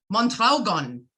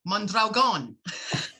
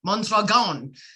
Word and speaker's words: Mondragon: His name is Donald Skip Mondragon. No, Mondragon. I've been practicing the pronunciation of his names, folks, his last name. So it's Mondragon.